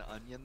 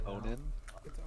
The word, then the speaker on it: Onan: We've been saying my name has been Onion this whole time, but it's definitely Onan. It is Onan.